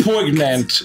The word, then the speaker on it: poignant: squinion or poignant yeah it's pronounced poignant don't change let us